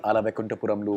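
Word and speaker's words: Ala Vaikunthapurramuloo: Recently, Ala Vaikunthapuramlu was supposed to be dubbed in Hindi. Well done, you And- pronounced the name really well.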